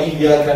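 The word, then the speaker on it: إِيَّاكَ: Atau contoh yang lain, pada lafaz iyyaka na'budu wa iyyaka nasta'in, di situ iyyaka itu ada tasydidnya. Tasydid itu cara bacanya harus ditekan, wong double.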